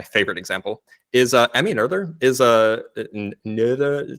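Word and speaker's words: Noether: example is uh Emmy nerder is uh she's German you have to pronounce the o with the new lot right she's uh was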